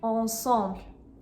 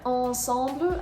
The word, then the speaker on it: ensemble: If you go to the next word, ensemble, again, there are 2 nasal sounds, but this time it is the en sound. And neither the N nor the M are pronounced. You're not saying ensemble.